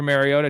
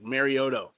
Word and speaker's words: Mariota: Super Mariota.